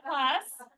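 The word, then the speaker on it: Klaus: Claus, okay? Not like Santa Claus. K-L-A. It sounds like it. It's not spelled like it, yeah.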